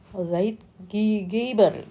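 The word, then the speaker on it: Zeitgeber: Mungkin sebelum ditutup ini disampaikan sedikit mengenai Zaid Giber aja ya. Ini ada Zaid Giber itu dari bahasa Jerman kayaknya ya. Zaid Gber dibacanya gitu.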